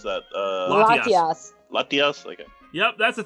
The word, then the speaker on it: Latias: And Corn ZX, remember the time when Ash was kissed by, how do you pronounce that? Latias.